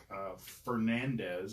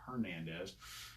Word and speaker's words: Fernandez: Ozzy Fernandez. I got his name wrong yesterday. I called him Hernandez.